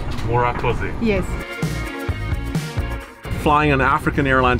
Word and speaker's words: Murakoze: Murakoze. Murakoze.